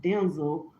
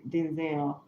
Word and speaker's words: Denzel: He said his name is pron pronounced Denzel and he said when he was younger his dad he's Denzel Washington Jr.